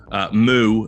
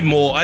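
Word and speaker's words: mou: taking on Zeus's Gambit, comprised of Dozier, Adren, Moo, as I believe it is correctly pronounced, Zeus. And that was Moore, wasn't it? Isn't it Moore? They say Moore.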